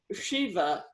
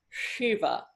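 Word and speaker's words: शिव: while it doesn't as long as you don't pronounce it sa that's fine but um but one um for example um Shiva is this and Krishna as we saw is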